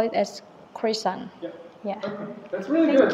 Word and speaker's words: croissant: And second one, when Pierre pronounced croissant as croissant, like the way French people pronounce it, because usually American people call it as croissant.